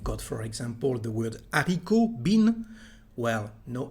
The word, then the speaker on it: haricot: Well, this letter actually is never said at the end, at the beginning, or inside a word. So let's see some example about it. We've got, for example, the word haricot, bean.